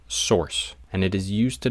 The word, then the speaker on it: SRC: void element that requires an SRC attribute usually pronounced source and it is used